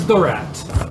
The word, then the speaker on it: Dorat: and what's your name uh my name is dorat d d right yes absolutely nice that's a